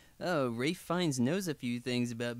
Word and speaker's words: Ralph Fiennes: You got Ralph Fiennes. Rafe Fiennes. Oh, I don't know how to say his name. Is it really Rafe?